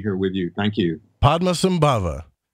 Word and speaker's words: Padmasambhava: Padmasambhava, right?